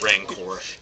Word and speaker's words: Rancor: Omniscience and Rancor. Rancor. Ranker rhymes with ankor.